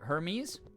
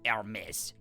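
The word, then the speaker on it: Hermès: I'd say it like the god. So, like Hermes. Hermes. I mean, it is spelled that way, but it's also like Hermes. The French way, or whatever country it's from.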